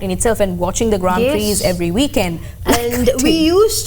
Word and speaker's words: Grand Prix: It's Grand Prix, not Grand Prix.